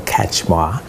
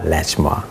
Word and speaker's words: Kachmar: It's Dr. Kachmar and not Latchmar.